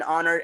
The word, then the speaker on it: honor: An hour, an honor, an HOD, an MP, an honest person, an hourglass. H is silent here.